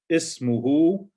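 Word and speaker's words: اسمه: Ismuhu. And notice we pronounce the alif because it's not. We don't have nothing in front of it to make it hamza to wasl. So you pronounce the hamza. Ismuhu.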